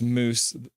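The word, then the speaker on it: mousse: Uh Russet spelled like mouse pronounced moose um more though.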